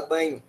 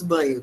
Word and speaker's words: Bagno: livro do Marcos Banho, que se escreve Bagno, mas fala Banho. Tem gente que fala, ou tem outras pronúncias também, eu falo Marcos Banho, mas tem gente que fala Marcos Bagno, que chama o preconceito linguístico.